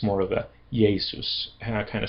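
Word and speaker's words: Ἰησοῦς: name in Greek is yesus. There's a y sound in it. It's spelled with but it but because of the cemetic root it's more of a yesus kind of sound although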